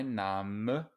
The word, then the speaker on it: Name: my name is careful here this looks like the english word but in english we say name in german an e at the end of a syllable is always pronounced my name is my name